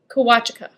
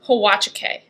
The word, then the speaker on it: Huachuca: Huachuca. Originally, before I tried to look it up, I thought it was Huachuca.